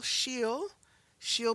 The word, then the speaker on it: she'll: and we try to hang on to the pronunciation of the original two words. So he'll, all right? She plus will, she'll be ready soon.